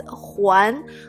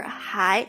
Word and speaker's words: 还: So just caution you that in the future, if you see this word out, like in a book, it could be pronounced either way, either huán or hai.